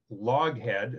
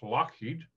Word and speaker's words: Loughead: spelled l-o-u-g-h-e-a-d which is log head as people pronounce it but it's scottish so it's lockheed and they eventually changed